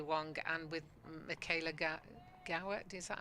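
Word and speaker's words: Gaur: And I think England with the likes of Izzy Wong and with Michaela Ga Gaw, is that how you say it? From Lancaster, Mika Gore.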